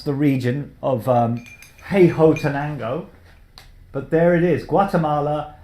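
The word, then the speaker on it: Huehuetenango: Took me ages to pronounce the region of Hey Ho Tenango, but there it is, Guatemala, and it's Caturra Pache Bourbon honey process again.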